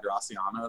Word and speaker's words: Graciano: So if you've ever had a Spanish wine like a Rioja, they have a lot of Graciano there. They pronounce Graciano. They don't say the C.